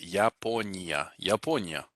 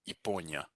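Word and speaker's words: Япония: reduced to an e the word for japan now this yah at the beginning if you pronounce it fully the way you know we learned the name of the letter it would be yaponia but it gets reduced here because it's not stressed it actually becomes good so basically it's kind of being swallowed so iponya okay so again that's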